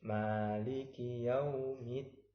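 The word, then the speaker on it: مَالِكِ يَوْمِ الدِّينِ: Jadi kalau Maliki Yaumiddin, di situ ada huruf dal yang sukun, setelah itu ada huruf dal yang berharokat dengan kasrah. Jadi dibacanya seperti huruf yang double, harus ditekan. Maliki Yaumiddin.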